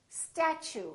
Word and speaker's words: statue: let me show you we don't say statue we say statue statue so the t u sound like CH so it almost sounds like chew I chew my food